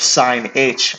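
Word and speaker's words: sinh: derivative of sine of h, no, derivative of sine h of x, that's how it's pronounced, that is just cosine h of x.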